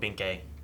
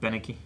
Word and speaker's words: Beneke: I don't know what Binke is gonna do. Beneke. Binke, whatever. Beneke. I was trying to remember his name, and you said it wrong. I was like, oh yeah, that's not how you say it.